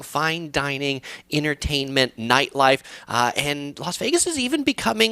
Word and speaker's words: Las Vegas: It is Las Vegas, Las L-A-S, though lazy people like me often pronounce it Las Vegas. And of course, people that actually speak Spanish say it's not Las Vegas, it's Las Vegas.